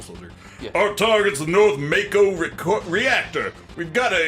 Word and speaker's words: Mako: front of it so speaking of pronunciation Mako Mako Mako or Mac Oh a lot of these names are pronounced Japanese I may slip into either the Japanese or the anglicized pronunciation gym we'll call it Mako but I might say Mach Oh everyone's alive please